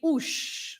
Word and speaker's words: os: And the sh sound is when the S is at the end, right?